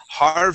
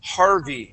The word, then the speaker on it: Harvey: Instead of saying harve. Okay. The word is harvey.